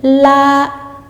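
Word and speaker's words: 拉: Le temps est toujours sur la voyelle et on insiste sur cette voyelle en gardant cette hauteur, ce qui nous donne la.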